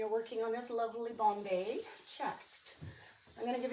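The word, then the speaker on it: bombé: There is a brand of bombe, which is the Bombay company that started, I think it was 1978 down in New Orleans, I think.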